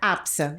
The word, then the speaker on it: APSA: E se pronuncia APSA. APSA.